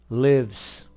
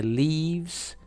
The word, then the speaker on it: lives: student S student gos lives lives som fechado não é leaves leaves São folhas em